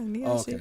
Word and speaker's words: Neoshihy: Neoshihy, right? That's how you say it? Yeah, Neoshihy. Oh, okay. Like Neo in the Matrix.